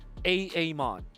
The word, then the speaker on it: Amon: Now you're pronouncing it correctly. Amon.